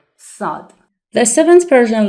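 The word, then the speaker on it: صاد: to dive in letter sod the seventh Persian letter is named sod s and it is pronounced s just like the letter seen remember it sounds s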